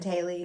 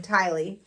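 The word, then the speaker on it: Tylee: had with Ty Lee keeps saying Haley because I had her name wrong Ty Lee so it's just super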